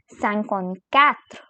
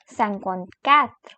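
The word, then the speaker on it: cinquante-quatre: is and here we have 54 which is sankon Kath sankon cat then comes 55 which is sankon sank sankon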